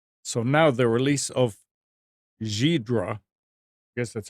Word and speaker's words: Ghidra: required expensive software so now the release of zebra yes that's how it's pronounced its GHI Dra the NSA tool has